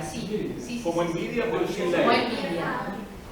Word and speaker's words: Nvidia: Envidia. Envidia, sí, como envidia.